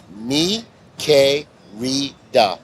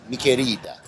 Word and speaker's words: Mi Querida: First off, it's Mi Querida. Mi Querida.